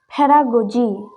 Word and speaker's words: pedagogy: Here it's Y after G. G sounds J. Pedagogy.